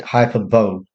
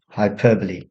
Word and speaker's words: hyperbole: Students often pronounce it hyperbole, hyperbole, but it's pronounced hyperbole.